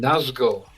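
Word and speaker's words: Nazgûl: I mean, look at that Gazgul. It rhymes with Nazgul.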